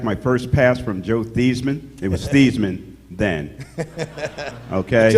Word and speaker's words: Theismann: You got to know he changed his name from Theismann to Theismann to rhyme with Heisman.